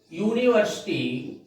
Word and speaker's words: university: My sister is university student. Here again, this word university begins with a vowel, but the sound is a consonant, that is U.